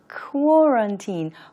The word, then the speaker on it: quarantine: 앞에 QUA 부분 발음 조금 어렵죠. QU는 네, 그 KW로 발음 기호로 표시하는 발음입니다. quarantine. 쿼런틴이 아니고요. 쿼런틴.